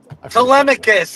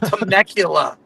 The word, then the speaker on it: Telemachus: Telemachus. It's not Temecula.